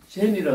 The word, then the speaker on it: 禪: 그러니까 젠이라 선이라는 글자를 만들어 놓고 이 한자로서 이 글자를 쓰는데 이걸 젠이라고 하는 일본어 음으로서 이제 옥스포드 사전에 등재가 되어버린 거죠. 근데 이게 중국어로 발음으로서는 창입니다. 중국 발음은 창인데 일본 사람들이 이 스스키라는